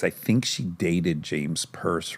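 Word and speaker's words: Perse: Pierce? James Pierce? I could be wrong, but James Purse. it's spelled P-E-R-S-E. P-E-R-S-E. Purse. Yeah, Not Pierce.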